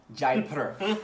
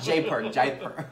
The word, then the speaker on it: Jaipur: i say it right jay jaipur not jay park and i visited that